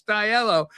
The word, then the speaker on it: Diallo: He said, you're saying it wrong. It's Diallo. He's a good friend of ours because Joey's from Liverpool too.